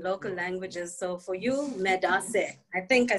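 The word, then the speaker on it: medaase: So for you, medase.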